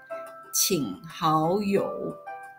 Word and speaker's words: 请好友: 1 plus 2, and it is pronounced as third, second, third, 请好友.